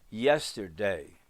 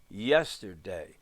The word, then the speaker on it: yesterday: have three levels of like yesterday yes is the first syllable loud tur little the littlest day gets a little accent yesterday yesterday and if we're teaching